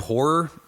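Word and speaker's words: HO99O9: Is the group Horror, which is like HO9909, is how they spell it out.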